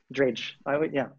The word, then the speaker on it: Drage: Rage with a D in the front. Okay. There you go. Drage.